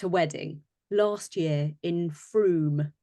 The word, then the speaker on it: Frome: wedding last year in Frome. Is that how you say it? Frome? It is, yeah, beautiful room. Frome.